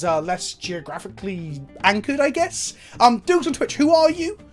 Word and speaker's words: Dukes: We've played some Australian Highlander on the channel before, but today I'm inviting Dukes on Twitch. That's right? I pronounced it correctly?